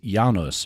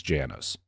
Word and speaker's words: Janus: family name is is yanos but the American pronunciation is Janus Adam was 27 years